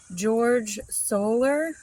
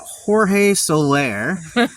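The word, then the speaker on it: Jorge Soler: sellers top sellers yeah George solar well that is a very um anglicized way of pronouncing that that is Jorge Solair um who is a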